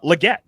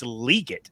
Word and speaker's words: Legette: at South Carolina so we all said uh Legette but turns out it's leot is how he has said his family pronounces it um dude he's awesome